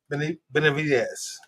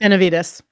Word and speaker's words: Benavides: joined by Grammy nominated artist or Arthur Glinda Ben Benz did I say it correctly I'm sorry Benavides yeah I had it until I had to